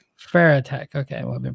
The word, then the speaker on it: Farotech: How do you pronounce that? Farotech. Farotech.